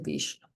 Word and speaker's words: Vishnu: Ah, vishnu Vishnu, si no lo puedo pronunciar. Perdón. Sí, le puedes decir Vishno. Vishno.